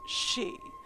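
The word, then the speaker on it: 四: to be aware of the number four is pronounced she the same as the word for death and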